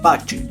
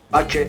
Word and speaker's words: Pace: José Carlos Pache. No pase, como he visto en otros lados.